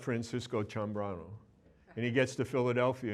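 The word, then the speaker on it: Ciambrano: last name was Sano you pronounced chamb brano c i a m b r ano and when he went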